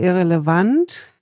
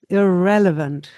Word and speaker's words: irrelevant: So you can't say irrelevant. It's difficult to understand then in English. You need the stress and the beat goes on the second syllable here.